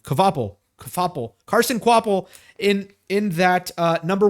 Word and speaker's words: Kvapil: And Carson Kvapil in, how do you pronounce that name? Kvapil.